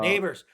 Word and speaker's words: Nabers: is uh you know they got nabers who's a seems like a phenomenal neighbors neighbors neighbors neighbors you're right yeah that's how you say it they got neighbors